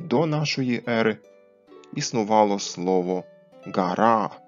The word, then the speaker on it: garā́ˀ: нашої ери існувало слово «гара», саме так з довгим «а» в кінці закінчення і з твердим приступом в кінці, який забезпечив наголос на останній склад.